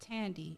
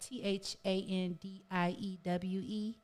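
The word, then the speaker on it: Thandiwe: It's not Tandy. It's like Thandiewe. Oh. and I'm not quite sure how to pronounce that.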